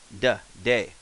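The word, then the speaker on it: で: so ta becomes da, te becomes de. So we're back up here. And this is, since I like to give you an example, when we think about it, that's day as in day.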